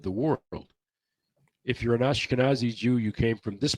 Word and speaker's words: Ashkenazi: there are the Annika Annika sazi I think or I don't know Ashkenazi Ashkenazi I can never pronounce that Ashkenazi okay there you go I'm oh I'm trying